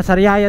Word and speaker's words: Sariaya: Ewan ko kung tama yung pagkabigkas ko kung Sariaya ba o Sariaya. Pero dito kami sa Sariaya bypass road. Sariaya pa ah. Sariaya daw ang tamang pagbikas. Tama pala tayo mga pare.